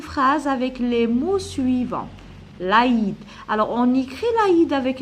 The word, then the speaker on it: l'Aïd: Et je mets 2 points sur le I pour prononcer l'Aïd et pas l'Aïd. L'Aïd.